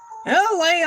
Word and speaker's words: Elay: My name is LA, pronounced LA like the city.